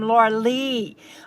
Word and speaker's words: Lorelei: And I saw that Lorelei says she pronounces her name Laura Lee.